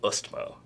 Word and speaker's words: Østmo: It's the O with the line through it. Okay. And I've learned to pronounce it. It's Østmo. Østmo. You gotta put a little Østmo.